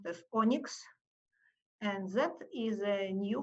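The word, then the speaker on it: ONNX: open neural network exchange or nnx which is pronounced as onyx and that is a new format that is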